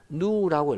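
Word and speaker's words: ν: 약을 읽기는 어떻게 하느냐면 누라고 읽어요.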